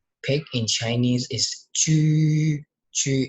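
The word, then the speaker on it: 豬: Chu is tone 1. We will pronounce it like Chu, Chu, Chu, Chu.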